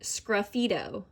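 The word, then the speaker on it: sgraffito: to the number seven you pronounce it scruffito okay so it says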